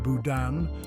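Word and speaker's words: boudin: beer brings together more than 50 leading chefs pronounced Budan this tasty delicacy originated in Western Europe and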